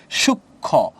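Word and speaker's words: সূক্ষ্ম: সুখ ক সুষ ও সঠিক উচ্চারণ হছে সূক্ষ মানে ক আসছে আর খ আসছে রাইট এখানে তার মানে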